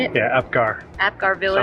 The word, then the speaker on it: Apgar: Yeah, Apgar.